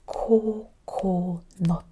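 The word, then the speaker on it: 코코넛: Kiwi last coconut coconut is coconut coconut. It's the open mouth O. This is the closed mouth.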